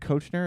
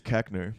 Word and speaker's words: Koechner: How is it David Kochner? Is that how you say it? I think it's Keckner. Keckner.